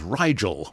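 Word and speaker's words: Rigel: which is which is Riel rhymes with Nigel which is a a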